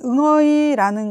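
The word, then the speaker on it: người: 근데 여기서 얘네들을 하나로 해서 응 발음을 해주시고 어에서 성조를 내린다라고 생각하시면 돼요. 그래서 응어이, 응어이 이렇게 내려가는 이렇게 발음 응 하면서 어이 이렇게 내려가는 응어이 이 발음 이게 쉽지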